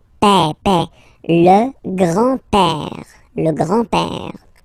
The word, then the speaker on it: père: grand-père, grandfather, le grand-père, remember, E accent grave like that. It's this open E. Père, père.